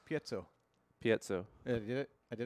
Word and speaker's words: piezo: How do you pronounce piezo?